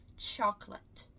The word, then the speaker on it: chocolate: bastante erro na pronúncia chocolate. Chocolate. Muitas pessoas falam chocolate, chocolate. E por que esse erro acontece? Porque a palavra late, ela existe em inglês, né? Que é a palavra tarde ou atrasado, dependendo do contexto, né?